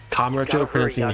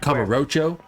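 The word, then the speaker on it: Kamurocho: games is very long we stick with the very japanese pronunciation like yagami kamarucho hitting that first a verses kamarocho or yagami so explaining that to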